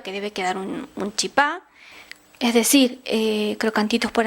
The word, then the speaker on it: chipá: llama de manera distinta se le dice chipa chipá con acento en la en la a chipita chipacito de varias